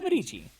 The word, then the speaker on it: Medici: Italy with Catherine de Medici. what a name. Yeah. Okay. It's spelled Medici. So I had to look up, is it Medici or Medici? It is Medici.